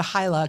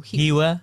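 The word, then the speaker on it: Hyła: We always said Hila because it's H-Y-L-A, but the L in Polish is with the, how did you say it? Hiwa. Hiwa, like a W? Hiwa.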